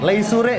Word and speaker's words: leisure: Leisure bacanya leisure, santai, leisure.